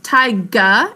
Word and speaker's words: taiga: forest called tai jaa very close tai ga it says a gu sound taiga a good job pronouncing it as thai that's correct tiger a moist northern